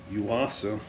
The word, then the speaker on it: Yuasa: So, this is a Yuasa. I'm pronouncing it right.